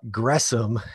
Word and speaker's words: Gresham: easiest of the names you to uh to pronounce uh gressom is how you pronounce his his middle name